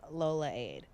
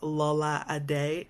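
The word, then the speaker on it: Lolade: Lola so it looks like Lola aid but it's actually pronounce Lola ad day and it's a part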